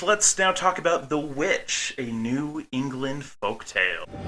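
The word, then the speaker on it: The VVitch: the movie itself is titled the vivit with two v's instead of a w so the pronounce it as witch I know but this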